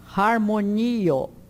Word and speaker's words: harmonio: Ro é sempre aspirado como no inglês house. Harmonio.